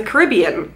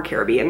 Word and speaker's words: Caribbean: a Pirates of the Caribbean or Caribbean depending on how you pronounce it palette this one right